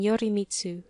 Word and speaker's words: Yorimitsu: Reicho is a Chinese pronunciation and Yorimitsu the Japanese rendering.